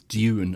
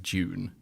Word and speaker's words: Dune: you want to be precise it's Dune and not June um but most people I can't hear a difference between those two versions yeah well one has a an enunciated why in the second syllable Dune as opposed to June which sounds like the month National Lampoon did a